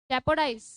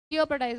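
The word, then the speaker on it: jeopardize: जियोपर्डाइज, जियोपर्डाइज क्या बोलते हैं इसको, क्या प्रोनाउंस करते हैं? जियोपर्डाइज, जियोपर्डाइज, जियोपर्डाइज क्या होता है? जेपोडाइज, जेपोडाइज, जियोपर्डाइज बोलते हैं इसको।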